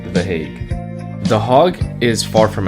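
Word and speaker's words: Den Haag: tour guide the heg I've been pronouncing it as the hog the entire trip but apparently it's called the hag the hog is far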